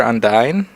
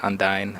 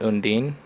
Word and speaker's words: Undine: um here's a fire undyne uh i believe that's how you pronounce it undyne i don't know my friend kept calling it undine uh i'm pretty sure it's undyne but let's take a